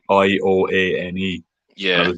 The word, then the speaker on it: Ioane: And his surname is like Ioane. Yeah. And I was like, I gotta get the pronunciation of this right. Like, I have to actually look it up. It's Ioane is how you pronounce it, but like.